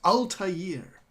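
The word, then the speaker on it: Altaïr: unusual double dot over the eye indicates it's pronounced as if it was two eyes so it's Ulta year now the one thing that I really really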